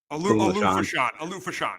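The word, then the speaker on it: Olu Fashanu: Do you know how to pronounce his name? It's Ola Fashan. Okay, Alufashan. Yep. Alufashan.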